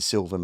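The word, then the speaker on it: Suilven: And his favorite mountain is the Silven Mountain in Scotland, but it's spelled S U I L V N.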